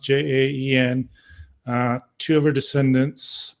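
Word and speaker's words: Jaén: pretty close to here in Jen I believe it's pronounced J aen uh two of her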